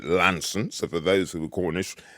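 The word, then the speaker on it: Launceston: Devon common border near a place called lawn stand or as they keep telling me down there you've got to pronounce it Lanson so for those little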